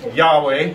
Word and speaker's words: Yahweh: This is Yahweh, is the way we would pronounce it.